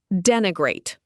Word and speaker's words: denigrate: Denigrate. Pronounced den i grate.